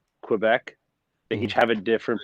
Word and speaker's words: Quebec: letter kenny yeah okay so whenever they say quebec they each have a different pronunciation and they always hit all four together quebec quebec so there you go that's it the